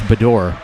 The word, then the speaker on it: Badour: over midori on it i should say bador i was i was told that i'm mispronouncing that last name it's badour what are you even